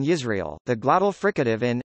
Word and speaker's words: Yisrael: begin with various consonants, the semivowel, J, in Yisrael, the glottal fricative in,